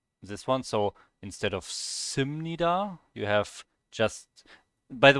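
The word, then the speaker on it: 십니다: This one is a B in the end here of this syllable, but it gets pronounced as an M because it's followed by an N.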